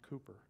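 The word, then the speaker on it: Cowper: blood his name is William Cooper pronounced Cooper this is a prayer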